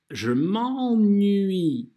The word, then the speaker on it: je m'ennuie: Первый слог у нас «en» – это «а» носовая. «Je m'en», «je m'en», «je m'en». И потом уже звук «n». «Nui». «Je m'ennuie», «je m'ennuie». Так это произносится.